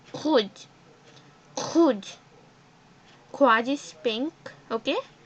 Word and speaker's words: rouge: Quad. It's not quad actually, sorry. It's kuj.